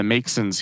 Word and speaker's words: Maxon: The city, Long Lake Township, is arguing that the Maxons here, it's spelled M-A-X-O-N, so I guess I mispronounced it the first time.